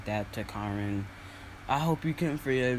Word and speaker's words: Karin: it was saying because i kept pronouncing as kieran which i probably will and said karen because i hate the name karen i call her kieran